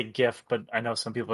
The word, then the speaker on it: GIF: I have this this like I'm gonna say GIF, but I know some people are gonna be like, it's pronounced GIF, and I'm gonna say I don't care.